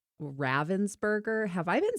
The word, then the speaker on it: Ravensburger: if anybody's calling them Ravensburger, because I think that's what actually most people in the US are doing all the time. But I think the right pronunciation is Ravensburger. Okay, I'm going to see